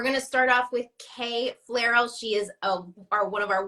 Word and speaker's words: Flierl: Flairal is easier to say anyway, so that works for me. We're gonna start off with Kay Flierl.